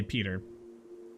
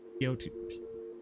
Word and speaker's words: Piotr: I'm gonna say Peter. Piotr. Properly pronounce that Russian-y, Eastern European-y name. Anyway, it's basically Peter.